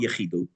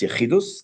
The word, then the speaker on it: Yechidus: That's called Yechidus. Probably also called Yechidut. But it's almost always pronounced with Ashkenazis. It's Yechidus, that you had private time with the Rebbe.